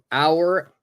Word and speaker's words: hour: instance if I said hour I would say an hour an hour because this H is silent the next letter is